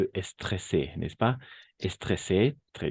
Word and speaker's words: stressé: aujourd'hui simplement pourquoi stressé n'est-ce pas et stressé très bien tu l'as bien prononcé et attention parce que le double S le double s on va prononcer comme un S simplement d'accord le double S